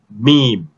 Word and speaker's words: meme: okay all right so but this word is pronounced as meme all right oh my god i was laughing